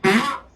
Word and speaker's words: Focx: And Fox is spelled CX. Yeah, not and X.